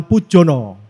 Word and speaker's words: Poedjono: Oke, tidak berlama-lama lagi kita kenalkan Bapak Rudi Hermawan Pujono. Bener ya, Om Ria? Betul. Bener ejaannya ya?